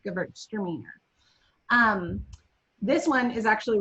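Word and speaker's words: Gewürztraminer: girls are meaner girls are meaner for those of you who don't know how to pronounce it at home they're not but it's an easy way to say it girls are meaner extra meaner um this one is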